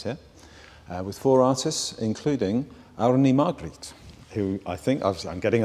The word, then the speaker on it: Árný Margrét: And tonight, one of the gigs at the Life from Reykjavík festival is going to take place here, with four artists, including Árný Margrét, who I think, I'm getting a nod, I said the name correctly.